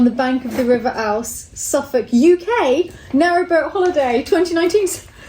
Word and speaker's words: Ouse: Ooze. With ooze. O-U-S-E, how would you say that? Ouse, Ooze, it's just with ooze. house without the H on the front.